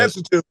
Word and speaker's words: Mansuetude: and I'm going to see if I can pronounce this correctly. Mansuetude? Have I got it? Mansuetude.